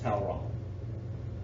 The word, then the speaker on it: Talleyrand: it that way but it's French and it's supposed to be pronounced towel wrong so they meet with towel wrong who is Napoleon's ambassador